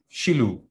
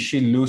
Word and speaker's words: Shiloh: Ek like net die Shiloh spelling, want dit is hoe jy hom in die Hebreeus gaan uitspreek. So dan het jy die regte uitspraak.